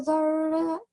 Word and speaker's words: ذرة: Emphasize on your ra. Okay. Don't forget the fatah here. Okay. Try again. فمن يعمل مثقال ذرة خيرا يره.